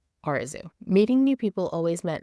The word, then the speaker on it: Arezou: always posed a problem despite literally being pronounced the way it's spelled Oru meeting new people always